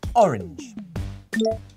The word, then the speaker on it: orange: from the french and the e is just a marker for the end of the word so we never prce